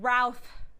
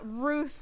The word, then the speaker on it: Routh: We've got the director, Joseph Kahn, and we've got actor Brandon Routh, not Ruth, like I rudely said time and time again here.